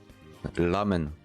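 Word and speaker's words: ラーメン: ramène mais en fait le r va plus se prononcé en L lamen voilà donc le r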